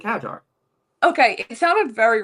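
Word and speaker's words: Hadjar: happened during the race, also Isaac Hagar Hagar, did I just say his name? Did I butcher his name?" No, Isaac Hajar.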